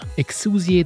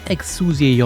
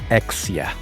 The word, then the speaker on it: Exusiai: For years, everyone has been calling her Exia. That's mostly because Arknights didn't have English voice actors early on, and in Japanese her name sounded like that.